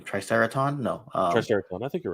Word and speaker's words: Triceraton: how do you say his name triceraton no triceraton I think you're right yeah triceraton and then